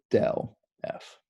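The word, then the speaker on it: ∇f: upside down delta f okay and we would pronounce that del f okay um so this is a vector so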